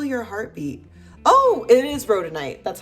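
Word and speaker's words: rhodonite: Oh, it is rodenite. That's how you pronounce it.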